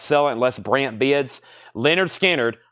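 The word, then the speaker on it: Lynyrd Skynyrd: I'm about to sell it unless brand bids Leonard skinnard pronounced Leonard skinnard gatefold new and sealed $ 36.99 for Leonard skinnard pronounced lard skinnard we have Phil Collins the singles Phil Collins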